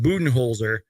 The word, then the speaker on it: Budenholzer: Mike buen holer because that is how you pronounce it I just uploaded a YouTube short about that it's pronounced buen holer and I'm really excited